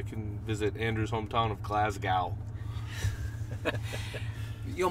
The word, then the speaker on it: Glasgow: visit Andrew's hometown of Glasgow. You know, my complaint with that pronunciation is less on the gal than the holding of the S for far too long.